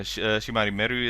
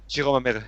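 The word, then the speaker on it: 白間美瑠: But the members there is like I'm getting more like a Shimari Meru is or am I saying it right now? Shiroma Meru.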